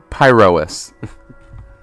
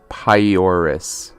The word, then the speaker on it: Pyrois: Pyrois. You know, it's funny, chat. My brain keeps mispronouncing it as Pyoris. Keeps swapping the O and the R.